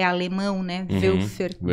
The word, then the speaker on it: Woelfer: Como é que se escreve? Velfer é W-O-E-L-F-E-R. É alemão, né? Uhum. Velfer.